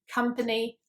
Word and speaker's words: company: Okay, the next one is the O in words such as company, love, oven. So in most European languages, I think that the letter O is pronounced as a O, whereas in British English, it's pronounced more like an A sound, which is quite confusing